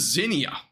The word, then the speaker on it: Xenia: Let me make sure I get this pronunciation right, by the way. Xenia. Okay, so it's Xenia. My bad. So this is Xenia.